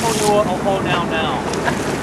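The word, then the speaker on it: Puʻuhonua o Hōnaunau: So, because it lives here in Honaunau Bay, the full pronunciation of this particular pu'uhonua is pu'uhonua ohonaunau.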